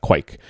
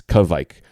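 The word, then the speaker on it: kveik: pulpit to say it, it has two syllables. It doesn't have one syllable. It's not quike. It's kvike.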